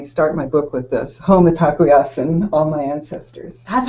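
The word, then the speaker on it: Mitakuye Oyasin: One was and I start my book with this, Home Atakuyasin, all my ancestors. That's how you pronounce that. Yeah. Okay. Home Atakuyasin.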